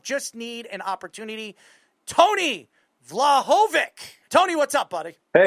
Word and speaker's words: Vlahovic: and author of Just Need an Opportunity, Tony Vlahovic. Tony, what's up, buddy? Hey, how you doing, Erl? Hey, you you you pronounce it beautifully.